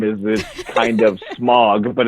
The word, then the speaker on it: Smaug: It's Smog. Smog. Okay. Yeah. I've been told that it was Smaug. I have heard Smaug a couple times.